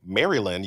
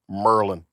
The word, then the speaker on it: Maryland: mean so just like you don't say Maryland you say Merlin right and you don't